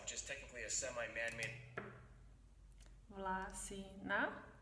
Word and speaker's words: Vlasina: Vlasina, first syllable, Vlasina.